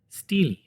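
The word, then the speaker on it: stele: still silly still stealing how do you pronounce it Steely okay the only remnant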